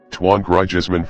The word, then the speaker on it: Antoine Griezmann: welcome to video Club Channel Antoine Griezmann French pronunciation Tuan grijesman 4 born March 21 1991 is a French